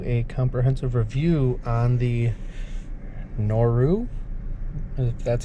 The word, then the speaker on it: Noru: be giving you a comprehensive review on the noru that's how you pronounce it uh motorcycle shoe so i just